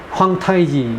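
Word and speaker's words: 皇太極: 이라고 한데 뭐 어 중국 발음은 황 타이지 이라고 말하죠 참 u100 27년을 이적료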